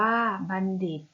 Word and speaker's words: บัณฑิต: ทหาร มัก จะ มี เสียง ยาว หรือ เป็น คำ เป็น นะ คะ บัณฑิต อ่าน ว่า บัณฑิต หมอ บัณฑิต อ่าน ว่า บัณฑิต หมาย ถึง ผู้